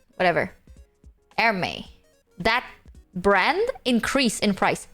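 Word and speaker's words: Hermès: increases in price is Hermes Hermes or whatever the you pronounce it Hermes I think it's called her but whatever airme that brand increase in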